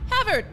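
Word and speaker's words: Håvard: Norwegian guy he was havered yeah it's like Harvard without the r Havard 4439 National Record but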